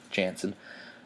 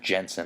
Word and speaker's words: Jansen: if they don't get Jansen. Or Jensen, I think it's actually pronounced.